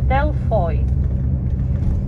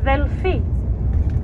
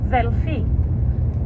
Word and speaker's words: Delphi: the same o i in Korea Greek you would read delphoid but for us oh and I already found they're pronounced together and they produce an e sound so we say Delphi in Greek velfi Delphi so that's the plural